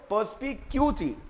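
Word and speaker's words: perspicuity: पर्सपिकैसिटी एंड पर्सपिक्यूटी दोनों की pronunciation भी अलग है। इसको कैसे पढ़ते हो, पर्सपिकैसिटी, पर्सपिकैसिटी। इसको क्या पढ़ते हो, पर्सपिक्यूटी, पर्सपिक्यूटी।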